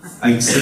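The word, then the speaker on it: Haitze: On capte et on prend à la Nive, au-dessus du seuil de Heitse, je prononce bien cette fois-ci, Heitse, merci. Je me suis fait taper dessus, Heitse. Heitse.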